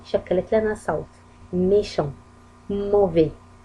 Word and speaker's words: mauvais: mauvais S لم تنطق، لي دي لم تنطق.